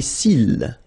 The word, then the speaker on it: cils: Les cils. Les cils. Final S not pronounced.